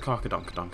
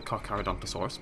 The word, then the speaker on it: Carcharodontosaurus: That's a Carcadonkadonk, isn't it? I think. Yeah, that's a Carcharodontosaurus. Just to prove I can say it correctly.